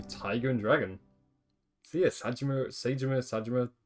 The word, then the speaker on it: Saejima: So yeah, Sajima, I think it's Sajima, that's how you say his name.